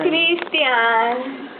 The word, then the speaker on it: Christian: It's pronounced Christian. Christian.